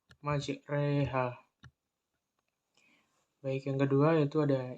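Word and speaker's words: مجراها: Dan bunyinya terjadi antara fathah dan kasroh. Dan ini dinamakan dengan imalah kubro. Contohnya pada surat Hud ayat 41. Bismillahirrahmanirrahim. Wa qala al-kabura fiha bismillahi majreha wa mursaha. Nah, pelafalannya yaitu pada majreha.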